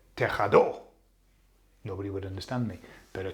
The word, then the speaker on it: tejado: So the emphasis is falling on the A, the second last vowel. So that's perfect. That doesn't need an accent because that's been pronounced in the way that it should.